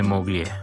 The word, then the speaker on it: moglie: E siamo marito e moglie. Moglie. Che L-I lo pronunciamo I.